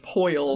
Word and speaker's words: Pearl: his girlfriend's Pearl but it's always pronounced po because of his accent and they even just